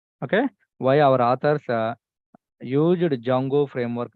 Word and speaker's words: Django: framework name as Jango they kept like Jango so where D is silent that's why we are calling Jango understanding so this is